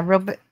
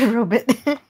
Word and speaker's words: robot: oh they both did I've heard I've heard you guys like lots of people say it say it like that but I just never understood that that is actually how people used to say it yeah because the origin